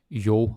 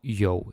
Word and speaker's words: jo: Okay, so the first one is jo or yo. It can be pronounced in 2 ways.